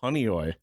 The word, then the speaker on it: Honeoye: Oh, Honeoye.